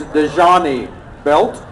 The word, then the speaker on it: Dejani Belt: Okay, his actual name, I mispronounced it, is Dejani Belt.